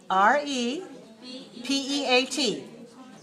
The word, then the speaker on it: repeat: p e a t how many syllables repeat two two repeat repeat repeat repeat repeat two two okay so syllables number they're two syllables and you stress the second r e p a